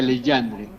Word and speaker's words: Legendre: es la ecuación delandre la cual se escribe ecuación de legendre le G legendre Así es se escribe y se pronuncia leandre o le esa ecuación